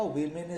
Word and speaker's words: women: इसी तरह से वुमन स्टूडेंट का वीमेन स्टूडेंट्स कर दिया। यहाँ पर ध्यान दीजिए कि WOMAN का प्रोनाउंसिएशन वुमन होता है और WOMEN का प्रोनाउंसिएशन वीमेन होता है।